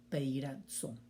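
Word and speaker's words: πειράζω: La pronunciación sería peirazo.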